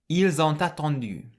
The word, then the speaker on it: ils ont attendu: So the S on the end of il can be pronounced like a Z, and the T on the end of on can link with the A at the start of attendu.